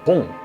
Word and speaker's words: Bon: 本藏语念作 Bom，来源于印度语的 Banu，意思是光。